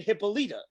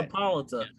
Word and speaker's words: Hippolyta: Well, that's because fucking Lovecraft Country had the exact same name, but they were pronouncing it Hippolyta or some shit like that. It's Hippolyta.